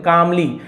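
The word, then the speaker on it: calmly: ओल्ड मैन कामली रिप्लाईड यहां पर भी एल साइलेंट है कालमली नहीं बोलेंगे कामली शांति से जवाब दिया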